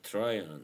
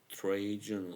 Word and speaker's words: Trajan: Tryon, yeah, I heard of this one. I'm really excited to try it now. Probably people would say Trajan or something. English speakers, but no, that's not how you pronounce it.